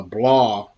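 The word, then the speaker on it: Blois: uh and there's a medieval city uh they pronounce it uh blah actually it's b-o-b-o-o-i-s and uh you know spend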